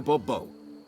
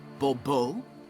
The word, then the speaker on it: Bourbeau: I expect you to address me as Sir, or better yet, as Monsieur de Bourbeau. Fine. Monsieur de Bourbeau. The emphasis falls on the last syllable. Bourbeau?